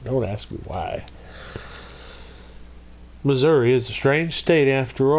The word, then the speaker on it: Missouri: to you live from the great state of Missouri not Missouri only idiots say Missouri it's Missouri you say it like it's spelled very easy today we're going to be